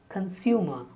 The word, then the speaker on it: consumer: Consumer. The stress on s, consumer.